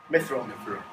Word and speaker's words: Mithril: One's called, I don't know how to pronounce this, is it Mithril or Mithril? Mithril.